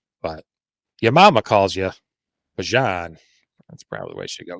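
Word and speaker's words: Bijan: of course I heard his mother uh on a or on a broadcast this weekend the people were talking about that she actually pronounces his name ban so it'll be interesting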